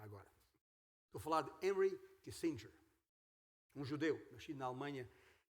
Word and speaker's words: Kissinger: Palavras de Henry Kissinger, ou Henry Kissinger, se for dito em pronúncia alemã.